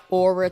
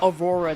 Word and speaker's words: Aurora: Hopefully over time they'll drop like aura ticket, mystic ticket, Eon ticket. Is that all? Is that all of them? I actually don't know. It's a Aurora ticket. I said it wrong.